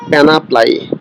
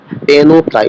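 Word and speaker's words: panoply: এন একটি extra ordinary প্যানাপ্লাই, sorry পেনোপ্লাই, উচ্চারণটা হচ্ছে পেনোপ্লাই, আই স আমি দেখেছিলাম,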